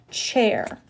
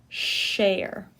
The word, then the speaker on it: chair: couple things about pronunciation chair chair this has the CH sound be careful you're not saying Sh cher cher is like little